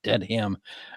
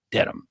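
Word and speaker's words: Dedham: trial in norfol County Superior Court in beautiful dead Ham Massachusetts no that's how Outsiders pronounce it it's not dead ham it's deam uh we know all this Reed 45 is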